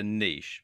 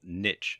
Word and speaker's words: niche: to do is to choose a niche, or niche as some people pronounce it.